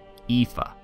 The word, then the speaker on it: Aoife: Aoife is the pronunciation.